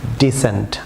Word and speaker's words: descent: যেমন DESCENT, এখানে সি সাইলেন্ট থাকবে, ডিসেন্ট, আমার সঙ্গে বলুন ডিসেন্ট।